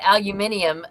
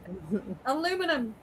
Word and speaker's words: aluminium: Or or what about when people say aluminium and I'm like there's that's too many syllables. Aluminum.